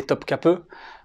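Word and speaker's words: Topkapı: topkapi stop cas peut même si ces cris on croirait que ça s'écrit topkapi mais en turc quand le ia pas le point dessus et se prononcent eux et pas il te met ensuite tu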